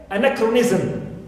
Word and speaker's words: anachronism: right also I have the prefix an like anachronism clear anachronism so here I have the stress